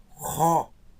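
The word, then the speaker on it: ὁ: Então, ró. Não é ó, é ró, porque a aspiração vai dizer isso.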